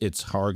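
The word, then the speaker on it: Kharg: So just for our listeners, in Hebrew, it's Harg Island, as Nadav is pronouncing it. In English, it's Karg Island.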